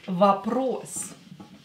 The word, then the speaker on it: Вопрос: Again, this O is not stressed, so pronounce it as A. This one is stressed, so pronounce it as O.